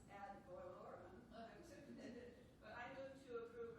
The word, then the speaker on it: ad valorem: To oppose the ad valorem, how do you pronounce that?